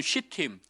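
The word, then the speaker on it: שִׁטִּים: 이 시딤이라는 말은 아카시아를 뜻 가리키는 단어인데, 이 단어는 히브리어로는 쉬팀, 조용히 하라고 할 때의 쉿과 그리고 팀을 말하는 그 발음이 합쳐진 쉬팀이 아카시아를 가리키는 시딤이라는 단어입니다.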